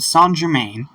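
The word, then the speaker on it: Saint-Germain: in a small town a mysterious man named s Germain yes that is how it's pronounced is trying to buy some apples when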